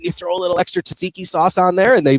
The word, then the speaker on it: tzatziki: I like the I'm like, can you throw a little extra tzatziki sauce on there?